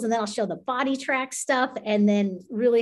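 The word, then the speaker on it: BodiTrak: is a company called body tracks and they come from the golf world and it's called b o d i t r a k body track and they spell it funny and um they're a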